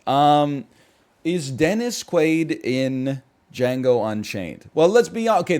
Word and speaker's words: Django: confused the D is silent this is Chris this is Django Unchained this is um